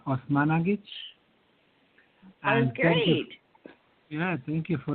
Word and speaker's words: Osmanagich: Osmanagich, and first of all, I'm not sure the proper pronunciation of your name. Could you please correct me on that? Dr. Well, Sam. you've been doing good. It's Dr. Sam Osmanagich.